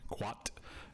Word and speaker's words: qat: An African tree is spelled QAT, quat, and it does not have a U after the Q.